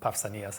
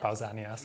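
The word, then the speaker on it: Pausanias: So, it's quite funny that they use the sort of modern Greek pronunciations of these words. Obviously, you know, Papsanas and Akidamos. These are modern ways of pronouncing these names. Um, we should actually be talking about Pausanas and Aridamos. It's a hard hard K sound.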